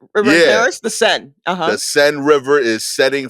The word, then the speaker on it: Seine: the Seine, is that how you say it? Seine River? Seine? Oh, the Sen. The Seine.